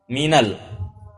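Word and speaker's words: مِنَ: dan juga dalam al-qur'an Min ketika nun sukun ya Min huruf Min ketika bertemu dengan alif lam itu bacanya nunnya di fathah Minal tidak Min Al dibaca Minal Baiti walaupun asalnya Min huruf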